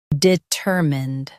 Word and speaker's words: determined: Emphasize ter and keep mind clear.